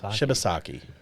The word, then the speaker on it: Shibasaki: Shibusaki. Shibasaki. Yes. Okay. Shibasaki. Shibusaki.